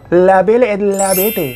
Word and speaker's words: La Belle et la Bête: Dimana dia menulis sebuah cerita berjudul La Belle et la Bête. Mohon maaf tapi ini bahasa Perancis ya, bukan Betawi. Jadi bacanya harus ada logatnya gitu. La Belle et la Bête.